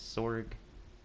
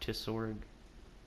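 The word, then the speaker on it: Tsorig: It's one of those T-S-O-R-I-G. That's how you spell it. I think it's Sorg, not Tisorg.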